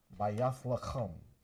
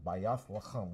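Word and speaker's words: בית לחם: Bayath lacham. That's how you say it in ancient Hebrew. Bayath lacham.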